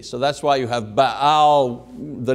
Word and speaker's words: Baal: Tyre, and through her influence, the worship of Baal Melquart, who was the official nature god of Tyre, was being actively brought into the kingdom. Now, the word Baal, or Baal as it's pronounced, means master or possessor or husband.